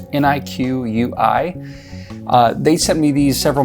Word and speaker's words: Niqui: I believe that's how you pronounce the name. It's Niqui.